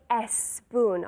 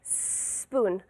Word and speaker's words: spoon: English spoon spoon but careful we don't say s spoon all right spoon so make sure you use the S as